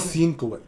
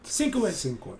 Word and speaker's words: Sienkiewicz: Bill Skinifowitz, how do you pronounce Bill it? Sienkiewicz. Sienkiewicz.